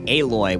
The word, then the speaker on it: Aloy: metal that's clever although for some reason everyone pronounces it aloy which kind of undo